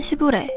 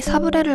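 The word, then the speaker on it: sablé: 먹었어 삐삐삐삐삐 안녕하세요 오늘은 시부레 아니 사브레를 만들어 볼 거예요 아 시부레 쿠키 만드는데 설탕이 없네요 아 시브레 아니라 사브레 있데 왜자꾸 시브레 사브레는 프랑스어로 사브레라고 읽고요 모래가 뿌려진이라는 뜻을 가진데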